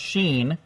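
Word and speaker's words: ש: the first letter of shin pronounced sheen from the word Shalom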